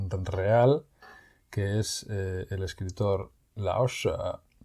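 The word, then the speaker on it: 老舍: Pero en este caso no se pronuncia con el cuarto tono, sino con el tercero, Lao She.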